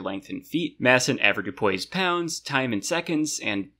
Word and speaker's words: avoirdupois: been saying it like avoirdupois in my head this whole time, because this is like the most French-looking word, so obviously it's going to be pronounced like that. But no, it's apparently usually avoirdupois, so I don't want